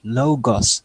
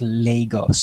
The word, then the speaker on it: Logos: Yeah, Riley, before you proceed, the commenter's name is Logos, sis, not Lagos, sis.